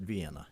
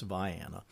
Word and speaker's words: Vienna: Now, if you look it up on a map and you see the name, you're going to want to pronounce it Vienna. It's not. It's Vienna.